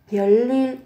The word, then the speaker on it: 별일: 별일 아니야. 별일 các bạn sẽ có ở đây. Về cách phát âm thì các bạn sẽ có ở đây là phụ âm riêng. Biến âm 별일 별일 별일 아니야.